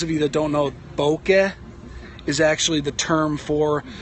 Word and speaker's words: bokeh: Bokeh.